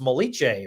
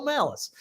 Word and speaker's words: Malice: sure I got like, this is not like an Italian last name. It's not like pronounced Molice or something, right? He said, no, it's Michael Malice.